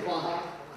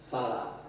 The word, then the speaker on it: Farha: I've always told I should not say Faha. What should I say? Fala. I could never pronounce my R's as a child. I had but two, and I was always accused for rabbit, and therefore probably that's the way the R.